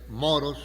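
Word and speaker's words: μωρός: Qué es lo necio la palabra griega es moros con acento en la o insensatas que quiere decir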